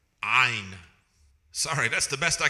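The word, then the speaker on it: عين: Ein. Now, how do we actually pronounce this ein?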